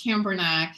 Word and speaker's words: Cambournac: start with my name so at least camber neck not that hard not as hard as it looks uh and definitely easy to pronounce let me just give it a shot and it's gonna work out as you can tell this is not an american name i was born and raised in france and uh but i've